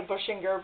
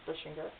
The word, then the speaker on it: Bushinger: I know that doesn't look like it should say Bushinger, but that is how they pronounce their last name, is Bushinger.